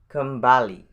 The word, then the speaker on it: kembali: There are 2 syllables in this word, which is kem and bali. If you can pronounce the word Bali easily, so I think you can pronounce this word easily too.